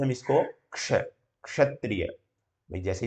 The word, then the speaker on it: क्ष: क्ष, छ का उच्चारण ये जो है छ नहीं है, कुछ कोई बच्चे जो है छ ये नहीं है, ये ठीक है, ये छ अलग है, छ छाता वाला। इसको क्या बोलते हैं? कै और श।